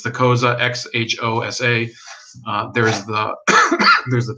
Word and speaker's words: Xhosa: You have the Zulu, the Xhosa. I can't pronounce their name properly, but it's the Xhosa, Xhosa.